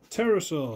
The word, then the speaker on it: Pterosaur: Pterosaur. Of course it is. Why wouldn't it be? With a silent P.